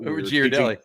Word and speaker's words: Ghirardelli: It's not Ghirardelli because you don't say spaghetti. The H makes the G a hard.